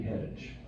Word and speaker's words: Heddick: Well, it's pronounced a lot of ways, but Heddick.